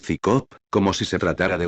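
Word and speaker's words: CSICOP: él desde el principio su acrónimo psico se pronuncia es cicop como si se tratara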